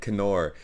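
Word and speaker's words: Knorr: i said correct oh my god i meant kenor i've been saying it right uh because the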